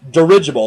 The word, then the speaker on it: dirigible: of dirigible and it's dirigible there's emphasis on the i in the middle and he pronounces it